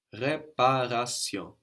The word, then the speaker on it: réparation: But you can pronounce it like an R. It is pronounced like an R in various dialects of French. Réparation.